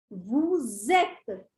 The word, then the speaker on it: vous êtes: The next is vous êtes. Vous êtes. You can see this arrow below. That means we are pronouncing both the alphabets together, the liaison rule. Vous êtes.